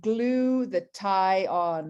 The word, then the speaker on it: glutathione: people repeat you know think about glue the tie on right glue the tie on if you want to think about how to pronounce it because really so many